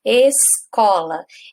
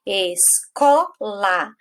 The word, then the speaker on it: escola: Então, por exemplo, escola, escola. Qual que é a sílaba que eu pronunciei com mais força? Não foi o có?